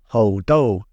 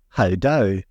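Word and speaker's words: 猴痘: Interestingly, the World Health Organization's Chinese page refers to the disease as ho do, or ho do, if you want to pronounce it with an Aussie accent, as in, that ho has a lot of dough.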